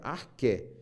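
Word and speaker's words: arché: que seria quer a que se escreve a r c h É com acento no no final então escreve-se Axé mas se pronuncia ar quer o quê que seria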